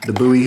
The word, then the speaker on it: Bowie: This is the Bowie or Bowie, depending on how you say it.